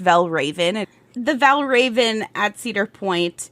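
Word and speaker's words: Valravn: It is pronounced Valraven.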